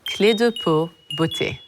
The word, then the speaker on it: Clé de Peau Beauté: for those of you who don't know it's pronounced clear depuis butchy since as old as I've been around you